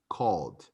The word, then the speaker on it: called: We don't pronounce the E, called.